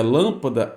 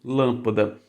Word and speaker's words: lâmpada: a palavra Lapada sendo paroxítona porque você não pronunciaria lâmpada também sendo paroxítona então se você quiser lâmpada aí precisa de assento tá aqui lâmpada Então por que que acentua a lâmpada porque